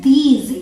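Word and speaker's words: these: इसे हम प्रोनाउंस करते हैं दीज. इस बात का ध्यान रखिएगा कि यहाँ पे ज के नीचे एक बिंदी है, ये बिंदी, इसे हम ज प्रोनाउंस करते हैं, ज. ठीक है. इसे आप दीज नहीं बोलेंगे. अगर आप दीज बोलते हैं तो वो गलत हो जाएगा, आपको बोलना है दीज.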